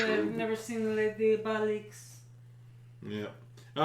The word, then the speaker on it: Les Diaboliques: In Les Diabloques, French film, Diabloques, Oh, I'm done. 1955. Which character? You're saying it wrong. Let me see it. Diabloques. Les Diaboliques.